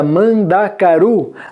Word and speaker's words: mandacaru: De novo, notem que na palavra mandacaru, a sílaba tônica é a sílaba ru.